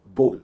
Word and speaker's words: bowl: आपने नोटिस किया होगा मैंने कहा बोल एंड नॉट बाउल, इट्स बोल, मतलब सूप का बर्तन जिसे हम कहते हैं बोल।